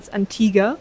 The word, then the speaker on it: Antigua: like um yesterday on Antigua which apparently is from Antiga sorry if I kept mispronouncing the island and was way windier